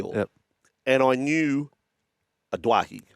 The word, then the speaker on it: Doueihi: that the the origins of the pronunciation Doueihi. Yes. Then we got to a World Cup and I had to go back to the other Doueihi. Doueihi, sorry, not Doueihi. Doueihi for a little while.